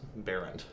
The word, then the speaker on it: Baehrend: So spelled Baehrend, but pronounced Baehrend. Baehrend, okay. Yeah, you don't really say the Bay and all that. And then you throw the H in there and it confuses people.